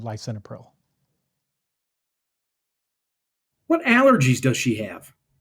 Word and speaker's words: lisinopril: Not usually say "lee-sinopril." More likely to be said "lie-sinopril."